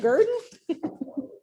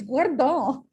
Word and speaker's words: guerdon: Is that Gurdon? It's Guardon.